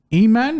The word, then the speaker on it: Aiemann: So, all right, next fight we have Aiemann.